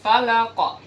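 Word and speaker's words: الفلق: Nah, karena ujung ayatnya adalah huruf qaf yang merupakan huruf qalqalah, nah, jadi kita harus berhenti di situ dan membacanya dengan qalqalah kubra. Saya ulang satu kali. Qul a'udzu birabbil falaq.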